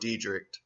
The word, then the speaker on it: Detrick: Look into that shit right there, Fort Detrick. And it's spelled Fort, D-I-E, like diet, rich.